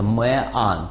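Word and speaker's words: man: Единственное число – это «мэан», то есть это дифтонг. Наши произносят это одинаково.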